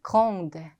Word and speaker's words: grandes: elles sont grandes. 역시 성까지만 소리가 나고 S는 발음이 안 된다.